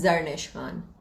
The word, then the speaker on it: Zarnish Khan: It's Zarnish Khan. A lot of people call it Zarnish, and that pisses me off. But it's Zarnish Khan.